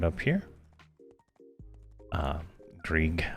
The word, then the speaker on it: Grieg: Greg Zind is right up here. Uh, Grig. I say Greg, but it's Grig from what uh what the uh pronunciation things are.